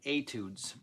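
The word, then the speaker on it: étude: rock and blues fiddlejam etudes Etude spelled phonetically a t o o d z I was trying to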